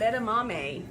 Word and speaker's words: edamame: So this is, edamame, that's how it's spelled, E-D-A-M-A-M-E.